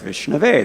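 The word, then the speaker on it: विष्णवे: But somebody who knows better says Vishnave. That's the proper declension.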